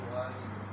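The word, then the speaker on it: والد: Ismul Walid. Ismul Walid. Beda walid, beda walad. Ismul Walad. Karir. Ismul Walad. Naam. Walidi bapak, waladi anak. Itu bedanya kalau kita panjangkan.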